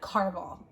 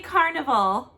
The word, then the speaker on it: Caraval: We're like I just told her today, I said, we got to soon squeeze in Caraval. Is that how you say it? Caraval? Caraval. I did not say Carnival.